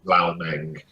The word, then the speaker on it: Lao Meng: Meng Lao. Pronounced Lao Meng. Oh, right. People. Okay. It's first name is part of the last name, but the last name is pronounced first. Okay.